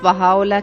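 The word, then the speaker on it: Bahá'u'lláh: Su nombre es Baha'u'lláh, que quiere decir en español la gloria de Dios.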